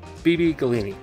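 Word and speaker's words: Beebe Gallini: we have puppet show I'm thinking this is how you say it Bibi Galena galini it's b-e-e-b-e g-a-l-l-i-n-i so I think it's BB gallini I'm sorry if it's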